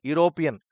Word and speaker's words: European: the second one is European European is a word which has been started by using oval sound but the pronunciation If You observe it is giving constant pronunciation that is the reason